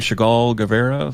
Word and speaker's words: Chagall Guevara: Chagall Guevara?